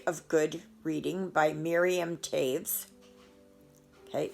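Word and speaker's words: Toews: good reading by miriam taves okay that's not toes it's it's pronounced taves okay so there's that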